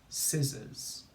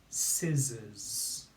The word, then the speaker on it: scissors: and it's ziz si so we've got two z spellings and we say z o r spelling of